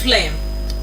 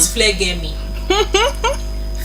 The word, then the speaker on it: phlegm: Then the next word of the day is phlegm. Phlegm. Not phlegmy. Phlegm.